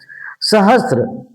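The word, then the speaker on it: सहस्र: इस स का उच्चारण आपको मालूम होगा कि दंतव्य स है।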